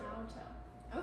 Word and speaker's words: Naoto: So it's Naoto, am I saying that right? Yep, it's like 3 sounds, not Oto. Naoto.